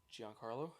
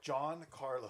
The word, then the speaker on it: Giancarlo: would go see him how'd you pronounce his first name Giancarlo okay yeah I might have rolled it together I thought I heard like John Carlos no no Gianna Carl